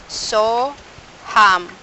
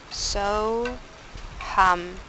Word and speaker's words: So Ham: So Ham. I am that. So we'll inhale. While we inhaling, we pronounce so. When we exhale, we pronounce hum.